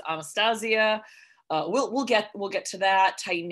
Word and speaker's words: Anastasia: Although I will say proper pronunciation of that name is Anastasia.